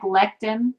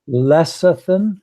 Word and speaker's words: lecithin: times you seem like lectin when you cook like a semi thank you how do you say that again Alessandra lecithin is how I say it lecithin helps with